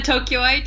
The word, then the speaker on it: Tokyoite: A Tokyoite, yeah.